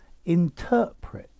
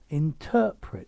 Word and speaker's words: interpret: of these words so interpret interpret so stress on the middle syllable interpreted okay on the